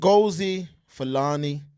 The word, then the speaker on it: Ngozi Fulani: you know these African names that I can't pronounce it say that again mobile please and go see felani and gozi Fulani all right we're not gonna butcher her name